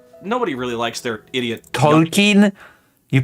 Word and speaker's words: Tolkien: But What is that my older Tolkien?